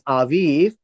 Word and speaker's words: Aviv: month of aiv the month of Aviv it's pronounced as Aviv is the month of spring many of us